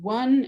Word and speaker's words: one: In the word united, it represents the constriction of the air, or the word one. The O is usually a vowel, but in one, it's representing a W and a at the same time.